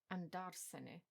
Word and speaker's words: andarsene: If we take the infinitive of the pronominal verb andarsene, it's not stressed on the pronoun section of the verb, but as it is on the second to last syllable of the basic verb, andare.